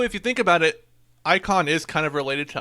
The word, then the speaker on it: Eikon: I think War of the Icons or something.